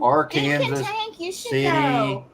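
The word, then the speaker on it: Arkansas City: it's a crazy name it's spelled just like Arkansas but it's AR Kanas City Kansas yep yep Tamar David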